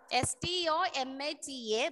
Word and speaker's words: stomata: Ma'am, it's stomata or stomata? A or O? STOMATA, but when you pronounce, we will use stomata.